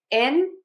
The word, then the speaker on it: installation: So to say these words correctly, we are going to stress syllable number three, the lang. So we're going to start with in like the word in. Then the next syllable has the schwa, the uh sound. We're going to stress the le. And then we're going to unstress the shun. That's the schwa again, but I wrote it with the short u.